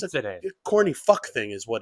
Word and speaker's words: mozzarella: New York Italian like saying like it's not mozzarella, it's mozzarella, Mozzarella.